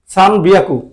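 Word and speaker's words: 三百: তাহলে আবার 300 লিখতে গেলে 300, 300, 300 এর ক্ষেত্রে ওরা একটা ব্যতিক্রম রাখছে, 303 বলে সান। আর হিয়াকু জানে, হিয়াকু, হিয়াকুই লিখলেন, হিয়াকু একটু 3 দিয়ে দিচ্ছে, বিয়াকু হয়ে গেছে, সান বিয়াকু। সান বিয়াকু মানে হচ্ছে 300, এটা ব্যতিক্রম, এটা মনে রাখবেন।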